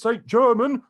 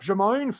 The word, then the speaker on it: Saint-Germain: versus paris h germain it's paris saint-germain not jermaine off